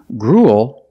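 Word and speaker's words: gruel: Grul is a kind of food. It ends with a dark L because the L is after a vowel.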